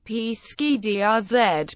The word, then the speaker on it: Pescadores: The Portuguese pronunciation is Picathori, but, in English, it is typically closer to Pescadores or is.